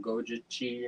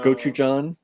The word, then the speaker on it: Gochujang: We have that gojichi or whatever. Oh yeah. You always say it wrong. I can't think of what it is. I know. Gochujang.